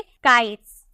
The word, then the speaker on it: kites: को मिल रहा ना, एस से पहले अगर आपका TE हो तो उसका प्रोनाउंसिएशन आपको सौ में करना है, तो इसे हम क्या बोलेंगे, काइट्स।